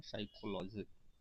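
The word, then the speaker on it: psychology: है साइकोलॉजी साइकोलॉजी पस पीएस वाई लिखा जाता है लेकिन य पर साइलेंट होता है इसको पढ़ते है साइकोलॉजी आफ्टर ट आधुनिक मरकरी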